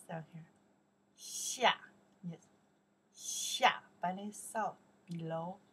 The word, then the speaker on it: 下: Okay, pronounce down here. Xia, yes.